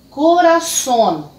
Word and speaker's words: corazón: delas em português então essas corazón corazón em português coração a posição da sílaba tônica aqui na última sílaba uma outra palavra